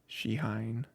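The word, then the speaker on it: Shehyn: say it out loud it's not Shane is like just like a super it's like a super common name um it's probably not how you pronounce it but uh sheine probably is closer to how it's pronounced um you know the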